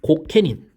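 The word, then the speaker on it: 御家人: 자, 중앙의 통치는요, 쇼군과 이 고케닌, 어가인이라고 하는데 고케닌이라고 읽습니다. 일본 말로.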